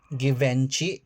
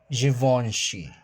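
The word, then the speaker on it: Givenchy: Givenchi. No, it's givoni berberry.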